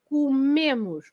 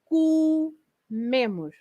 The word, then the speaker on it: comemos: So it's not o, like eu como, tu comes, ele come, not neither o nor o, but it changes to u. Nós comemos, comemos.